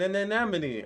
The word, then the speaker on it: anemone: real talk i would not know how to pronounce an enemy if it weren't for finding nemo and then an anemone an anemone yes i mean i know it